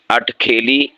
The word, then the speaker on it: اٹھ کھیلی: اس کا مطلب ہوتا ہے اترا کر چلنا، یعنی ناز و نخرے سے چلنا۔ تو اس کے لیے جو صحیح تلفظ ہے وہ ہے اٹھ کھیلی یا اٹھ کھیلیاں کرنا۔ ہاں، بعض اسے ازراہ